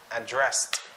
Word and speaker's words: address: Since this is pertaining to a verb, so we have to pronounce it as addressed. Addressed.